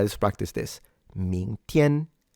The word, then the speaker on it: 明天: 明天, ming, ming, tian. Do remember the G is not pronounced and it's only used to fully nasalize the N.